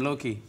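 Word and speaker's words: Louwtjie: But is that your nickname, Loki? Well, my grandfather's name was Loki, but it's you spell it L-O-U-W-T-J-I-E.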